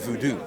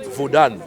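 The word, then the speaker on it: Vodun: what is now called Voodoo. You know what I'm saying? But it's called Vudan. Done. Yeah, With an N. Vudan. Yeah, with an N at the end.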